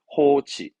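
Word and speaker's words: 放置: 발음은 호치, 호치, 호치.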